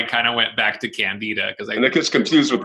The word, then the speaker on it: candida: Well, Warren Levin years ago was an expert in this realm, and I did an article with him, and he said the correct pronunciation is candida.